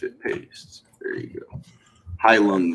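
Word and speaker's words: Heilung: High Lung is how you say it.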